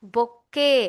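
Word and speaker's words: bouquet: मेरे साथ प्रोनाउंस कीजिए बच्चों, बुके। क्या बोलेंगे आप?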